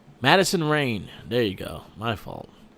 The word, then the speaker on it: Madison Rayne: Oh shit, I got her name wrong. My fault. Madison Rayne.